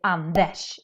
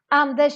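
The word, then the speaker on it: Anders: We do the same thing when we say Andesh in Swedish. Andesh is this Swedish name, but RS always makes this sh sound in Swedish.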